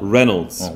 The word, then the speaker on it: Reynolds: Reynolds. Y가 없다고 생각하시고 Reynolds 이렇게 발음하시는 겁니다.